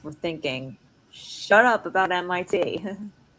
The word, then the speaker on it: MIT: and says, "Oh, so you're not going to tim." And Dimmitri says, and Dimmitri says, "Oh," it's like, "Oh, oh, Sweet Moon, it's actually pronounced MIT."